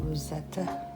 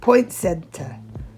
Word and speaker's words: poinsettia: our Rosetta that's how you say it right Rosetta Point Center sorry poinsettia that's what they're called Point settings and I